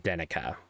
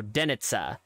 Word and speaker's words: Denica: these names come from the C is actually pronounced with what I would call just a TS so it's not hornica